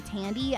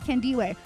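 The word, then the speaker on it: Thandiwe: "Hey, by the way, my name has always been Tande, but when I started as an actress, some racist dude said, "I'm just going to call you Tandy."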